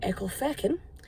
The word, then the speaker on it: Ecclefechan: I'm actually in the village of Ecclefechan, and that is how it's pronounced, because I think a lot of people